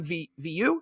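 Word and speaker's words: Vieaux: And Cam Viu, is that how you pronounce that? Vio, yeah.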